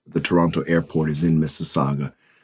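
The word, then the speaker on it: Mississauga: It's Missaga.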